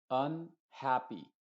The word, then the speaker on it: unhappy: Y si una palabra que tiene dos o más sílabas empieza con una UN, esa U en general va a representar a una U modificada, que en este caso se diría, por ejemplo, unhappy, unhappy.